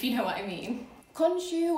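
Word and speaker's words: Khonsu: know what i mean consue or you can also pronounce it konsu was the god of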